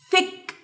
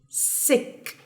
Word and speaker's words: thick: G okay what else thick thick thick sick okay sick but this is thick thick T is pronounced so it's thick thicki like thick